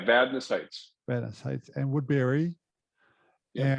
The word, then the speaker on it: Vadnais Heights: He's in, I don't know how to pronounce this, Vagnus Heights? It's, Vadnais Heights.